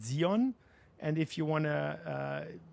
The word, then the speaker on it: Sion: So if you're a German, you pronounce it Zion. And if you want to use it as the original Zion, you can call it Zion, of course. But Sion is okay as well.